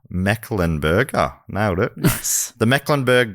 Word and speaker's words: Mecklenburg: Then in 1775, North Carolina became the first state to declare independence from Britain with the Mecklenburg, don't worry, Matt, it's pronounced how it's spelled, Mecklenburg, nailed it.